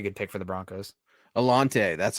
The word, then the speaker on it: Alontae: Alante, that's how you say Yep. it. Okay, Alante cool. Because Taylor. I absolutely butchered Alante Taylor.